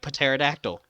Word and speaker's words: pterodactyl: where the p but the p is silent like pterodactyl so i'm a circle